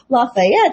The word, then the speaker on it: Lafayette: And Lafayette, just how you say it in French.